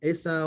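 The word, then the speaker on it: Esau: was a cell and asap gets a bad rap asa or asa depending on how what how the pronunciation how you pronounce it gets a bad rap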